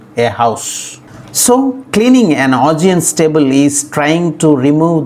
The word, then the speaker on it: Augean: So finally A-U-G-E-A-N is pronounced as Augean. Augean. The stress is on the second syllable G.